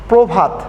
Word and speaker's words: প্রভাত: যেমন আদিতে পয়ের সাথে এখানে অ আছে এবং র ফালা যুক্ত আছে, প এবং র ফালা যুক্ত থাকার কারণে এখানে পয়ের সাথে ওকার চলে এসে উচ্চারণ হয়েছে প্রভাত।